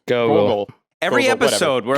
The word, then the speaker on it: Gogol: as one of General Gorgle's... Gorgles? Is that how you say his name? Gorgles? Gogol.